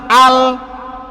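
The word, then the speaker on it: أَلْ: ওই একজনে কইতাছে হামজা লাম জবর লাল বিললে, শুনছেন? এটা হইছে আল, হ্যাঁ কয় লাল, কেমন লাগে?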